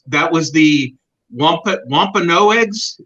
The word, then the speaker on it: Wampanoag: was the one put wampano eggs is that the correct pronunciation Tom wampanoags I think I'm actually